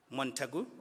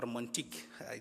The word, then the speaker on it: Montagu: The clean karu which we are referring to is Montagu or Montik depending on how you pronounce it and this is part of what you call therc project.